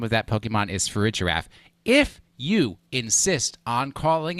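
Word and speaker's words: Farigiraf: of that Pokemon is for rigorraf Steve was pronouncing it correctly when I say that the name of that Pokemon is for a giraffe if you insist on calling it frigograph for the rest of your life when you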